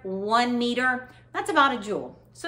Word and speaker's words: joule: to you and it's called a jewel and it's spelled j-o-u-l-e and it's list after the